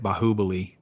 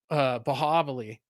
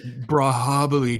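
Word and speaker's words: Baahubali: forgot to ask my wife like how to pronounce it. So I just went along with it. But yeah, It's like Brahabali, dude.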